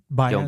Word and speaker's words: Joan Baez: Joan Baez.